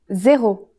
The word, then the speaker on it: zéro: It's the same as in English, but with a different pronunciation. Zéro.